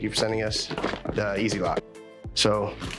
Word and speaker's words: Easilok: It's like Easilok is how it's pronounced, I believe.